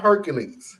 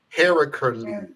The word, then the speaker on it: Heracles: It's not Hercules. It's No, not I know. a version of Zeus. Heracles. Heracles. Or something like that. It's a lot more syllables in it than what we've been using.